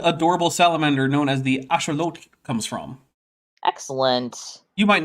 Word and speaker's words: axolotl: That's because you don't know enough Nahuatl. I don't know enough, but the axolotl is the greatest animal ever. It is. But if you want to say it like a real Aztec, you have to say axolotl.